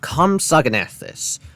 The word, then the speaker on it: Compsognathus: It is pronounced Compsognathus, or compass that likes